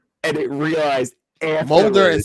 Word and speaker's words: Mulder: It's Mully and Scolder." And it realized Mulder and Scully.